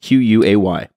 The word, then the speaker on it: quay: That in the word key, which is spelled Q-U-A-Y.